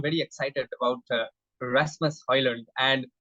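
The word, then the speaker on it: Højlund: uh Rasmus oil and he just mentioned his pronunciation as oil only so D is also silent but he doesn't mind if anybody calls him audio and or Holland or whatever they want to call him so that depends on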